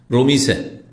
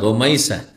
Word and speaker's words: রোমাইসা: রমিসা, কি বলে? রমিসা না, রোমাইসা। হ্যাঁ, কি বলবেন? রোমাইসা।